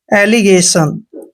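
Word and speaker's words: allegation: आता है तो अक्षर जी का उच्चारण ए करते हैं सॉरी ग करते हैं और और ए को ए की मात्रा प्रते है टी आई ओ एन का उच्चारण हमने हमेशा सन करना है एलिगेशन दोस्तों एलिगेशन का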